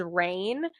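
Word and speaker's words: Raihn: fantasy that like I'm pronouncing this character as rain it's spelled r a i h n how would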